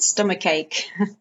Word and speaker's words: stomachache: so you've got stomachache again the like Sound by stomach and ache okay so it's like a stummer cake a bit like cake that you eat stomachache okay also with a